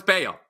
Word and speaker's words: Bello: No, it's Bayo. No, that's spelled Bello. We're in America. That's Bello. No, it's Bayo.